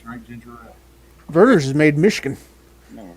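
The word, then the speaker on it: Vernors: Thomas Cantrell, and some of its most popular brands are Canada Dry, Seagram's, and Berners. Verners. Berners. Ginger ale. I thought it was Berners. I thought they pronounced it Berners.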